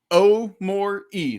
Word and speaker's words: Omoruyi: coming in as the yeah say again omore e that's how I always remember really easy I can do that